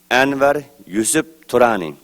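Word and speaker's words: Anwar Yusuf Turani: is anir yusf trani it's pronounced in ugar language Anar yusf Tani and I am the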